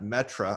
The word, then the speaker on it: Metre: me on twitter at metra i say it it's pronounced different than spelled m-e-t-r-e-steven yeah and i